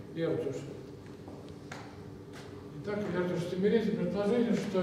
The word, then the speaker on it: Эрдёш: Ну, здесь непривычный для русского языка произношения, кстати, буква Ё без удара, Эрдиса.